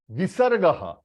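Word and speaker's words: विसर्ग: It is pronounced as half ह, यानी अ के साथ ह, and that h is half. So how you will pronounce a h, a h, a h. H, when you are saying h, you are pronouncing it out. But when you are giving a jerk, h, h, that is you are stopping the h in between.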